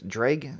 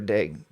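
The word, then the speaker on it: Derg: I think it's Dreg or Deg. It's D-E-R-G. So there it is. So however you pronounce that. Sounds like Greg, but it looks like Dreg.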